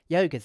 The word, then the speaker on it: yoga's: Yoga's easy. The third way is the easiest way because it doesn't require the sound, and it has 4 syllables instead of 5. It also sounds more natural.